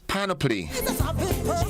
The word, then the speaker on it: panoply: word of the day today that word is panoply panoply p a n o p l y that's how it is spelled it is a noun and it is